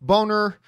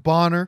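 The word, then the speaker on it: Ralph Bonner: who writes i suspect ralph boner bonner i guess was properly pronounced bonner was supposed to be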